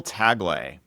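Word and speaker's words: Tagle: So how do you pronounce it? Cardinal Taglay.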